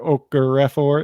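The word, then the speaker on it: Okorafor: right tackle last year okra refer it looks like okafor but there's a couple extra letters in there he's going to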